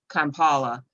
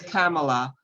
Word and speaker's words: Kamala: They may pronounce her name Kampala, knowing that full well that it's Kamala, but mispronouncing someone's name intentionally is practicing racism